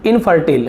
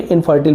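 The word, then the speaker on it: infertile: इसे हम इनफर्टल बोलेंगे, इसका शुद्ध उच्चारण होगा इनफर्टल, ठीक है, अनुपजाऊ, तो भाई बोलते ना फर्टिलिटी, उपजाऊ, तो इनफर्टल का मतलब आपका हो जाएगा अनुपजाऊ।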